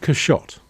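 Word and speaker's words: Quichotte: was named that's the Bob Steve it's called cash shot I spelt but you can see qu IC H ot te pronounced a shot and it's loosely based on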